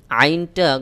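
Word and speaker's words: ع: আইন যুক্ত আইন আইন আইনটা গলার মধ্যখান থেকে একটু চাপ দিয়ে উচ্চারণ করতে হবে যেমন আইন আইন যুক্ত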